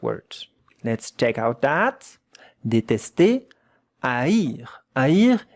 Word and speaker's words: détester: That one is A.